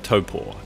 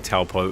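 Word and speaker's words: Taupō: today is all about the city of topor at least that's how we should be pronouncing it but a lifetime of saying taupo is an instinctive habit we're working on toppo is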